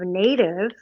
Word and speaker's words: N8IV: And so here we are, roughly 4.5 years later, and we spell it N8IV because it's a phonetic pronunciation of native.